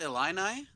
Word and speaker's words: Illini: they're a man who's a chief is it pronounced Illini yes but I just learned that one singular